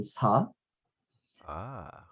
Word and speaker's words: So: you know too short it's actually not even the way it's supposed to be pronounced in korean my last name is actually saw ah and so you know the immigration the paperwork thing and whatever they just made it so and so that's